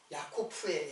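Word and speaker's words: יעקב: 야고보의 이름이 사실 야고프인데 이제 헬라 헬라로 헬라오의 발음으로 하면 이제 야고보라고 이렇게 발음 그 원래는 야코프예요.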